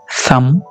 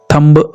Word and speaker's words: thumb: हर वो वर्ड जो MB पर एंड होता है तो वहां आपने बी को साइलेंट करना है, जैसे COMB कॉम, BOMB Baum, THUMB थम, थंब नहीं बोलेंगे आप, ओके।